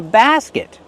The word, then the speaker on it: basket: Use the open ass sound like black cat. Basket. And then the closed sound. Basket. And use a stop T.